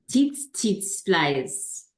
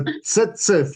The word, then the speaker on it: tsetse: Teats flies. It's a tsetse fly.